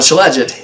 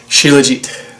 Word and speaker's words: shilajit: it wrong in my previous video it's not shilajit it's technically pronounced shilajit so uh my correction there now after um